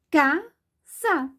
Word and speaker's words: casa: Você já pensou que nós escrevemos a palavrinha casa com S? Mas, na verdade, nós pronunciamos, nós falamos a palavra casa e o S fica com o som do Z.